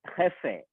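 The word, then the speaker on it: jefe: For example GEFAFE എന്ന് പറയുന്ന ഒരു വാക്ക് നിങ്ങളുടെ സ്ക്രീനിൽ കാണുന്നുണ്ടാവും ജെക്ക് ശേഷം. അതെന്ന് പറഞ്ഞാല് ഹെഫെ, നമ്മൾ അത് പ്രൊനൗൺസ് ചെയ്യുന്നത് ഹെഫെ എന്നാണ്.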